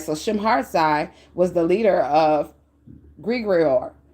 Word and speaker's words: Shemhazai: And how you spell that is how you say that, pronounce that is Shemhartsai.